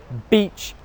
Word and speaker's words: beach: Especially in a normal conversation So make sure that when you're saying beach it's 'beach' /i:/ and not 'b*tch,' /ɪ/.